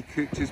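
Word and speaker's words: Couch's: look at that folks a lovely cooch's Brim and the coochie is is spelled c-o-u-c-h-s not coach es by the way so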